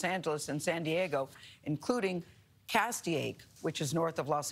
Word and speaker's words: Castaic: Castaic, is that right? That is correct. You pronounced it correctly.